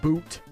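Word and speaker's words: buuz: Oh, it's pronounced boot.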